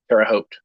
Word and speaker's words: Terre Haute: Just Hote. Okay, Hote. There we go. Terre Haute.